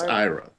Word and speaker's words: AIRA: for the era and she says we don't pronounce it like that anymore I'm like what anymore it's not even out yet she says no we've pronounced it Ira so you pronounced it correctly she says it's not era it's Ira AA sounds like error yeah I suppose it